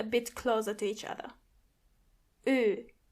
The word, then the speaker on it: Ö: The sound it makes is Ö. Ö. Start with an O and then try to make your lips a bit closer to each other. Ö.